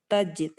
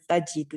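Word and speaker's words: تجد: Mata ta'tihi tasbu ila dawi narihi tajid khairan narin indaha khairu mautin. Tadi kan kurang pas, ternyata bacanya bukan tajidu tapi tajid ya, karena matanya di sini tujzimu fi'lain.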